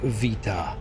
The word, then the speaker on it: Vita: her name is mispronounced from what I've been able to gather it's pronounced Vita okay well thank you